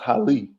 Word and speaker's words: Haile: a that's that's my Mirena so we use pronounced Holly Holly yes my Heil but yeah it's really